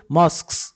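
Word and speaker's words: mosques: Churches গির্জা, মস্কস মসজিদ, এটির উচ্চারণটা কিন্তু মস্কস মস্ক মস্ক মস্ক, churches temples are sometimes located side by side along the same street।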